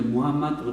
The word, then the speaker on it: 무함마드: 무함 마드 . 네 , 무함 마드 님 . 무함 마드 (Muhammad) 의 영어 발음 은 이제 무함 마드로 표준 화 되었습니다 .